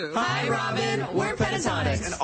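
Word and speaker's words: Pentatonix: Pentatonics.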